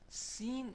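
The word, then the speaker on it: سين: next letter is seen seen is pronounced when the tip of our tongue goes close to the upper top front teeth seen just like the same place is foreseen seen but it gives a little whistle sound seen Xin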